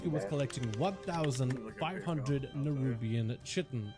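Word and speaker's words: chitin: with collecting 1,500 nerubian chitten or k heard it pronounced either way I call a chitten but you first need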